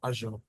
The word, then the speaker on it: Azure: person pronounce it as a right but the pronunciation is Microsoft Microsoft Azure right that's station second largest um um plow